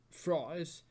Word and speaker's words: Frey: reminds me of Glenn Frey's uh I know it's spelled afraid but it's Glenn Frey blood fries the Heat